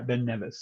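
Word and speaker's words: Ben Nevis: How do you How do you pronounce it? I do. You say Ben Neas. Nevice. Nevice. Nevice. Nevice. Okay. Thank you. Yeah. Ben Nevice.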